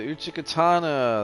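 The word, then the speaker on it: Uchigatana: Now the Uchikatana, that's how it's pronounced.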